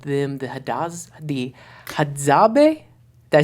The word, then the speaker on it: Hadzabe: A very remote, difficult to reach people group, and I believe you called them the Hadzabe. Did I say it right, Williams? Got you. Hadzabe.